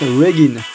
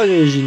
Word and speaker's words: Reginn: enfin appris son nom, ça se prononce Regin. C'est pas Regin, tu prononces pas la française, tu la prononces à l'anglais.